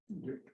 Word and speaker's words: Glück: Oh, that's what I kept calling her Glück for my whole life that I've known her name, that she existed. And then we discovered that she pronounces it Glück or something close to that.